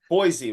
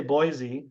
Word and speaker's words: Boise: right because Terry's always Boise right Terry is right it is actually pronounced with an S not a z so I mean most people say Boise but it's actually an